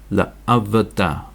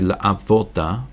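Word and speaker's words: לְעָבְדָהּ: So we've got l, a, v, da, la avada, la avada. And it's very pronouncing to actually say, put a dot here and say la avoda, but that's not what it says. It's la avada, la avada.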